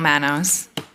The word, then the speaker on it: Manos: next we have Michelle Mano or manu uh followed by Linda granero and I'm pretty sure I mispronounced your last name it's probably my handwriting it's Michelle Manos all right Michelle whenever